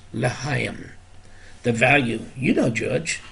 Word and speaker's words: L'chaim: He also learned about the numerical value for the Jewish sign for life, pronounced L'chaim.